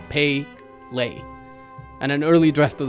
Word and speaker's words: Pelé: in attendance hilariously enough P's name was literally dictated as pay Le and an early draft